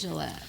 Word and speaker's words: Gillette: The next one is by Bless Gillette, Like the razor? like the razor. Bless Gillette.